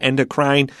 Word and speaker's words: endocrine: the most standard pronunciation that last e is not said you should draw a little X above that e so it's not endocrine endocrine but you might